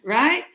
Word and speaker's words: Wright: The right as in you know if you use your right hand to write the W you see is silent just like when you say write your name down.